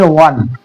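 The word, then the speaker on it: one: जैसे A1 note ₹1 note O एन ई ओ ओ से start है और इसको पढ़ते हैं हिंदी में वन यानी व का उच्चारण करते हैं पहले तो वन के पहले आर्टिकल ए का प्रयोग करेंगे।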